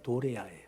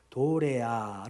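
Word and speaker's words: δωρεά: 나오는 하늘의 은사를 맛보고 하는 카리스마가 아니라 도레아 도레아 읽어야 하는 은사가 있습니다 우리말로는 한글로는 똑같아요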